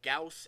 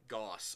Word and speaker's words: Gauss: He says that apparently that from what he knows, both Gauss and Gauss are acceptable pronunciations.